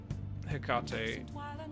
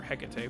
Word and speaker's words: Hecate: But yeah, like my knowledge of Hecate, or Hecate, however you want to pronounce it, was her relationship to the land of Colchis, where the Greek hero Jason traveled to.